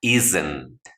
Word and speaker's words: isn't: vas a pronunciar como, en medio de la S y la N vas a pronunciar como una E. Muy neutral, muy cortita. Isn't.